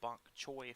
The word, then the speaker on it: Bonk Choi: I was requested to do, I believe the name is pronounced Bonk Choi first, so I'm going to try to draw an art in their style.